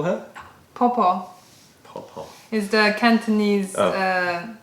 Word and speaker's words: Po-Po: But how do you say it? Popo? Popo. Because it's different in Mandarin, isn't it? Popo. Popo. Popo. Yeah. Because that's the Cantonese. Yeah, it's the Cantonese.